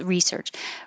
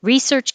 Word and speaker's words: research: no just the first research research can be said both ways maybe officially research with stress on the second syllable would be the verb and research with stress on the re the first syllable would be the noun but people say both ways for both nouns and verbs so you can do it either way i say research for